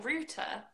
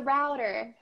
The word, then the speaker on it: router: which something could be it doesn't sound like a T's in there no yeah rather router yeah this is really interesting is this kind of Duff sound for people watching if you're interested in this sound we call it in phonetics attack for flap and it's not quite a duck it's like a very very soft and very quick ad uh okay it's not